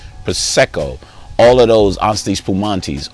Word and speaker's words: prosecco: Almost like champagne or cava or prosecco, say it right, prosecco, all of those Asti Spumantis, all of those in that realm, but with a party candy taste.